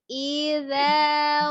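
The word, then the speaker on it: إِذَا: Ghasiqin idza waqab. Wa min syarri ghasiqin idza waqab. Wa min syarri ghasiqin idza waqab. Idza, ya ujung lidahnya dikeluarkan.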